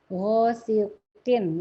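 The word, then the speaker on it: غاسق: Hosikin. Ya, ini juga udah mempraktekkan hosikinnya bahwa dia kong huruf isti'la tapi ketika kasroh mulai dari tebal dahulu.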